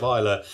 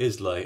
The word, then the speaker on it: Islay: this truly original beer have I been saying Isa right this video my first video I said it wrong all the way through and called it islay and as a result